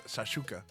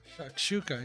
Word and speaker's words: shakshuka: My man makes shashuka. That's how you say it, right? Shakshuka. Yes.